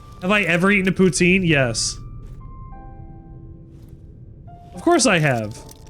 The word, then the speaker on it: poutine: Also, fun fact, it is pronounced poutine. Not poutine.